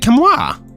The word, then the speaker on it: Camus: Sounds like Camus. It's Camus. Why does no one get it right? Camus. How the fuck how am I supposed to say this? It's not Camus. It's not Camus.